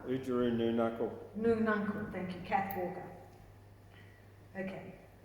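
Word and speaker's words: Noonuccal: can never say her name properly, but Ujuru Nununkal. Ujuru Nununcle. Nununcle, thank you, Kath Walker.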